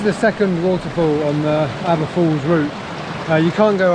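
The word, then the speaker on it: Aber Falls: jump into number one abba falls pronounced like the band is a beautiful and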